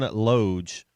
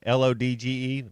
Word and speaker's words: Lodge: The bass is uh John Loge uh of Moody Blue. And maybe I'm saying his name wrong. L O D G- E. That's Lodge. Loge Lodge, I think.